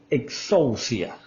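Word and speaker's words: ἐξουσία: En el texto griego, la palabra tiene un sonido como que, así como que exousia. Así se escribe, o sea, traducida pues al español se escribe más o menos como suena. Exousia es la forma como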